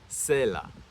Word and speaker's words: צֵלָע: When you return to the original Hebrew, the word used is pronounced sela.